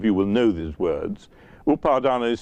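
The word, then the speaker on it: upādāna: dukkha suffering is defined defined as the five upadhana khandha upadhana kandha nobody none of you will know these words upardana is spelt u-p-a-d-a-n-a and the second half is a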